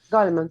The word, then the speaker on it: Goleman: Y mira, y tú me hablabas de Daniel Goleman, se pronuncia así, ¿verdad? Ajá, Goldman, sí, Él es el creador del justamente.